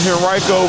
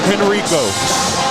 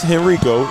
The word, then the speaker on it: Henrico: And ladies and gentlemen, it's not Henrico. It's Henrico. I know the A10 did a real funny video a couple years ago with the players trying to pronounce Henrico, but it is not Henrico, it is Henrico.